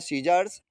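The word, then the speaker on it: scissors: दूसरा है सीजर्स। इसमें भी देखो कंडीशन वही है। सी नहीं बोल रहा है।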